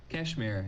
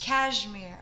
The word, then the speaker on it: KSHMR: I was going through your profile, and I saw that you worked with, I don't know how to say it. It KSHMR? Kashmir, yes. Kashmir.